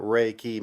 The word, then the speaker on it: Reiki: life force energy now literally what Reiki means two syllables ray life force our Universal key energy and so think of